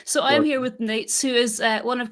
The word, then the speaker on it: Nejc: your name properly uh the easiest way would be to call it nate's nate's i can do that